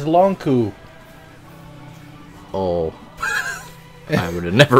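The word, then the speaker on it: Lon'qu: It's Longku. Oh. I would have never remembered that. I only know how to pronounce it because that's what the Japanese katakana says. Ronku.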